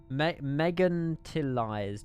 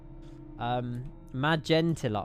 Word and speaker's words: Magentalized: Magentalized. Oh, magentalized. Of course it is. Magentalized. Yeah, magenta. Like the color magenta.